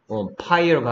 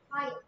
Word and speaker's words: fire: 그 다음에 pyre가 아니고 fire.